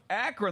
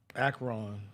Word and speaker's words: Akron: And the same here with Akron.